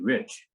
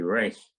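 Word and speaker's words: Reich: it r e i c h but they pronounced it rich so when I came to Stanford I didn't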